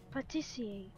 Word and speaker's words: pâtissier: Pastier. Pastier. I'm kind of thinking about it. Give me a sec. I think it's pastier or pastier, because it's a pastry chef. It's just the French word.